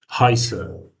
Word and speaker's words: heiße: This this sound as you remember from alphabet This is s z sound that is more pronounced as so.